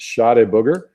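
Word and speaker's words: Chá de Bugre: This one's pronounced Shade Booger, and it's a real, supplement.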